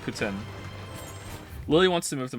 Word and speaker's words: poutine: good but it's not Putin some people say poutine I said poutine for a long time sometimes I still do say poutine but apparently it's actually pronounced Putin Lily wants to move to Montreal and I'm